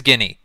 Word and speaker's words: Guinea: Pronounced. Equatorial Guinea. Guinea. It is Guinea.